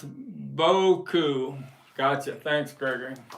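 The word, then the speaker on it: Beaucoups: I was tell Bo Boku is how to pronounce Boku gotcha thanks Greg B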